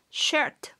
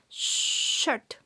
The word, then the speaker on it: sharp: poco es recordando que se pronuncia como si le dijéramos a alguien que haga silencio muy suavemente dejando salir un poquito de aire entre los dientes cerrados sharp sharp ok vamos a practicar